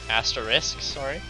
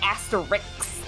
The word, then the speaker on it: Asterisk: He's gonna get so mad because everyone says it like Asterix. Like well, if it's there's an Asterisk. Yeah, like can you say risk?